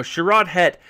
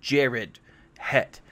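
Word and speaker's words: Sharad Hett: you who don't know sharad het was actually it's not pronounced sharad it's actually pronounced jared het uh now jared het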